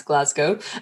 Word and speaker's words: Glasgow: also for any Americans that is how you pronounce Glasgow um but uh it's all about helping people